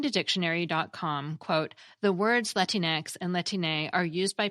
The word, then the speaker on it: Latinx: Well, Latinx is usually pronounced the way you've been hearing me say it, Latinx, and also more rarely as Latinx, according to Merriam-Webster and a video by the American Pronunciation Guide.